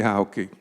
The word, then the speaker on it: Hauke: And also the pronunciation of Hauke, because how many times are people meeting at Hawk Park? And we're so thankful that we all can pronounce it correctly. Definitely, Hauke, definitely.